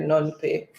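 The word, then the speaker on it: Phnom Penh: i pronounce it from i think the p might be or the h might be silent nom say okay this is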